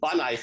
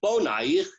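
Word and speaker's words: בניך: So when we say don't pronounce it banaich ela bonaich, there's a certain reasonableness to that it's written without vowels in order to convey multiple meanings.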